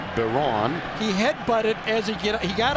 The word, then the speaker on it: Byron: He pronounces it Baron.